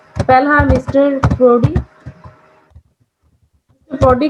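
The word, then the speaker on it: Proudie: दोनों की प्रोनाउंसिएशन ये प्रूडी होगी।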